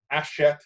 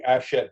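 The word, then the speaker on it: Hachette: a french company called ashette books the first h is silent h-a-c-h-e-t-t-e ashette books and ash head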